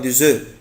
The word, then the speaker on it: œufs: إنما ما تيجي œuf جمع يعني فيها اسم ما بنطقش الاف. un œuf طبعا des œufs.